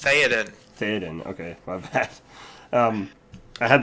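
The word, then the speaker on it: Théoden: Is that how it's pronounced? Theoden.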